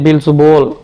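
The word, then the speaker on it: Beelzebul: ஹீப்ல பார்த்தீங்கன்னா தெரியும் என்னன்னு அதோட உச்சரிப்பே பீல் சுபூல் பீல் சுபூல் அப்படின்னு குறிப்பிடப்பட்டிருக்கு இந்த பீல்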